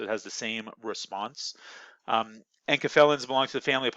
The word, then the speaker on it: enkephalin: Enkephalin. That's how you pronounce that.